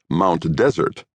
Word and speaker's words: Mount Desert: As decreed by the natives, one spells it Mount Desert, but the pronunciation is Mount Desert.